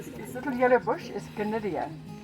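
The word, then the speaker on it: Gnidia: This little yellow bush is Gonidia. Spelled with a G like Gnu.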